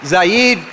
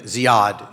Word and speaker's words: Ziad: And I may have mispronounced the name. Ziad is what I should have said, Keldani.